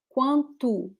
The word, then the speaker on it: quanto: We have there the sound quanto. It's very quickly pronounced, but it's there. Quanto. Yeah, the last O here is actually U.